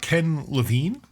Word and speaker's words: Ken Levine: So he writes his piece about Ken Levine.